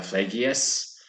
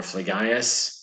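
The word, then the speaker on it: Phlegyas: have this introduction to Vegas or Flay Gaius however you want to pronounce it I think either one could be appropriate and he was the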